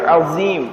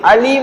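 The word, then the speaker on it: عظيم: அஸீம் என்பதாக சொல்ல வேண்டும் அதாவது அதை உச்சரிக்கக்கூடிய முறையிலே பெரும்பான்மையானவர்கள் தவறு இழைப்பதை பார்க்க முடியும் எப்படி அஸீம் என்பதாக சொல்ல வேண்டியதை அலீம் என்பதாக சொல்லக்கூடியவர்களை பார்க்க முடியும் அலீம் என்றால் என்ன அலீம்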